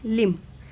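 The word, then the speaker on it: limb: Just then तभी Tenali Raman spotted that one ऑफ the figures did not have a लिम्ब। तो यहाँ पे बी है पर यहाँ पे बी साइलेंट होता है, इसे पढ़ते हैं लिम्ब।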